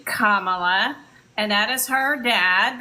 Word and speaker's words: Kamala: kamla Harris's parents that's shamala that's why we pronounce her name Kamala and that is her dad that black man